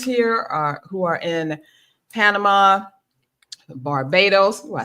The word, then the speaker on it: Barbados: So, since I'm in Mexico and I got my friends here who are in Panama, Barbados.